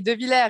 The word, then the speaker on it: Devillers: Today I have the great pleasure and honor to receive de Villiers, right? Did I pronounce well your name? Exactly, de Villiers in French, de Villiers, de Villiers.